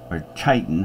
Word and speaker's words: chitin: Chitin, however, the two can be soft C or hard C.